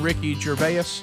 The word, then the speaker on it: Ricky Gervais: Ricky Gervais.